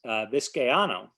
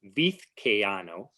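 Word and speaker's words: Vizcaíno: The next explorer was Vizcaino, and I think I just mispronounced it. It's Vizcaino, I believe is the correct pronunciation.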